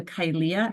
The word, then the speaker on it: Kylea: And I would refer people to Kylea. Her name's actually spelled like mine, but she says the A.